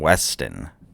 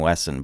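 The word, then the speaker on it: Smith & Wesson: Smith and Weston." You know, the gun is Smith and Wesson, but he pronounces it Weston, which my name is Weston.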